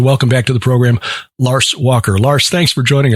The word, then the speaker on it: Lars: And I am now reliably informed because I bothered to read his website that his the correct pronunciation of his first name is Lars, not Lars, and he was very gracious in not correcting me the last time we spoke.